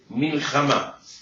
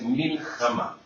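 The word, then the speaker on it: מלחמה: La palabra guerra en hebreo se dice milhamá. Ay. En hebreo, la palabra guerra se dice milhamá, que se escribe como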